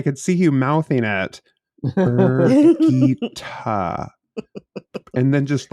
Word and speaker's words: Birgitte: I mean, you're also one that thought it was Bridget for like until like 3 months ago. I thought it was Brigitte.